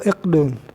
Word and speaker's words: عقد: Qauluhu iqdun, perkataan musannif tentang iqdu yaitu habada iqdu sudadin wa fakharin, itu cara bacanya dengan bikasril ain, dengan kasrah ain al-muhmalah yang tidak bertitik, ainnya itu wa al-qiladah,